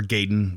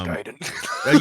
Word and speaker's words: Gaiden: Um, another one was Ninja Gaiden or Gayen, what whatever, however you pronounce it. I've always said Giden. Um, it's Giden.